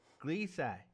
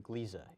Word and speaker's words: Gliese: which is important for people to realize, is Gliese is how you say this, right? From what I've been able to determine, Gliese is the pronunciation.